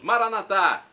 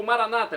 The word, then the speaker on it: Maranata: aramaico dialeto de Jesus maranat como dizemos nós católicos ou Maranata como dizem nossos irmãos separados não importa a pronúncia o significado é o